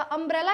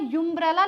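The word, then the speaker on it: umbrella: अब अंब्रेला को मैं यंब्रेला लिखती हूं क्या? यंब्रेला नहीं लिखते हैं क्या कि बोलते भी नहीं है। कोई बोलता है क्या? अंब्रेला बोलता है क्या? हां। कौन बोलता है? अंब्रेला को यंब्रेला कोई बोलता है क्या? नहीं बोलता है।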